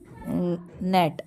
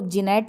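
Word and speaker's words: gnat: Which letter is silent in the word नेट। देखो इसको जीनेट नहीं बोलते, इसको बोलते हैं नेट, क्या बोलते हैं इसको, नेट, तो जी साइलेंट रहता है, ठीक है।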